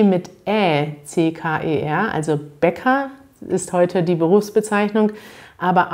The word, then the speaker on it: Bäcker: Und Bäcker, kurzes E, das liegt daran, weil es dort das CK gibt.